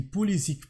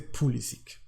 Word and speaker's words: Pulisic: Et oui, on dit Pulisic parce que lui, vu qu'il a grandi en Amérique, aux États-Unis, il a toujours prononcé Pulisic.